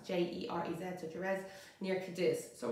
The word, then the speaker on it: Jerez: And sherry is produced in the most southern part of Spain, in Jerez, and that's spelled J-E-R-E-Z, so Jerez, near Cadiz.